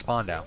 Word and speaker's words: Spandau: Apparently it's pronounced Spandau.